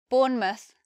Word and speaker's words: Bournemouth: We have Plymouth, Bournemouth, Yarmouth.